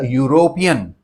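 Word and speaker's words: European: I hope it is quite clear right next अब देखिए एक वर्ड आया यूरोपियन शुरुआत ई से हो रही है लेकिन बोला कैसे जा रहा है य से यूरोपियन तो उसके आगे एन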